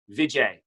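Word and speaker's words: Bijay: simple one it's b i j a y vijay oh that is fantastic oh that is correct do you have a friend named vijay yeah i i grew up in sydney there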